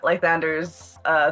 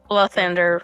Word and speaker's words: Lathander: Also, I'd like to point out, because you have consistently pronounced it Lythander. Mm-hmm. It's L-A. It's Lythander. Lathander.